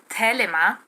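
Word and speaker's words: Thelema: things i lester crowley the tradition of felima which would be pronounced in greek telema and sex magic just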